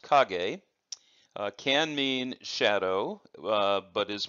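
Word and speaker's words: 陰: cog a character so this character which is pronounced cog a can mean shadow but is more frequently used to talk about shade but it also has some other meanings and it is pronounced not only cog a but is also pronounced in I am in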